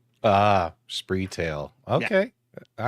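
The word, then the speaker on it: Spreetail: I I would say that the retailer actually rhymes with retail. Ah, Spree Tail.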